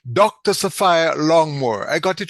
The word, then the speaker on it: Saphire Longmore: What she has a bossy name, so I better make sure I pronounce it correctly. Dr. Saphire Longmore.